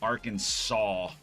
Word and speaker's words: Arkansas: Last S is silent, but it's not silent in Kansas. I mean, just whatever. Arkin saw saw saw saw, dude.